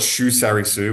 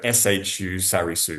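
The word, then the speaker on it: Shu-Sarysu: We should probably call it shuarisu which is the the the kazak way to pronounce it. So shuarisu shuarisu shuarisu.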